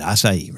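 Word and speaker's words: açaí: blueberry acai drink laptop and that's how you say it acai right uh so I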